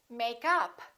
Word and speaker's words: makeup: we stress the preposition and if it's a noun we stress the first part for example make up or i'm wearing makeup